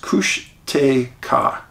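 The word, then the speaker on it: Kushtaka: the Tlingits and Haidas used for Bigfoot is Cushtika. A legend, he is the Otter Man. It is pronounced Cushtika.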